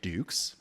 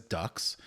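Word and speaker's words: Dux: film centers on Frank Dukes uh often mispronounced as Ducks uh played by Van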